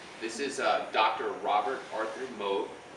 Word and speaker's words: Moog: You may hear me pronouncing it Moog. That's the correct way to pronounce it. Some people will say Moog, but that's the way he pronounced it. That's the way we do it here.